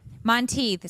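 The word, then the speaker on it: Monteith: Monteth.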